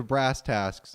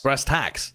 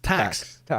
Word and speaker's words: brass tacks: All right, I think we should get down to brass tasks. Is that how you say it? Brass tasks? Brass tacks. Tax. No, I actually looked this up. It's tax. It's tax. TACKS, right? Yes.